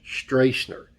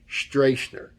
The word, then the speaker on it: Stracner: name a few times in this video it's pronounced Josh streisner streisner anyway when I make mistakes I'd like to